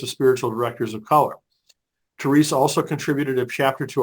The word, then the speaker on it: Therese: with you and it's theres the E is silent at the end but the way they